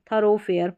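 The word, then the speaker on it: thoroughfare: यहाँ पर है थरो और फिर फेयर, थरोफेयर, बहुत रेयर स्पेलिंग इसका यूज़ होता है, बहुत कम। तो थरोफेयर, यहाँ पर भी ओ है।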